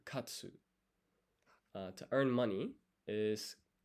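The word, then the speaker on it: 勝つ: So to get it's to win is ah so you do pronounce the u here. Katsu.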